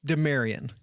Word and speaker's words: Demarion: Oh, mare like a horse. Demarion.